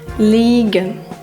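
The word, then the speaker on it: liegen: і читається як iй А і Е читається як подовжене і розберемо на прикладах е і кляй це маленький та даbй це нога і е н ліген ліген - це Щось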